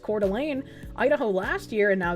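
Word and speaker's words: Coeur d'Alene: First the fire in Cordial Lane, pronounced Cordelane, Idaho last year, and now this one.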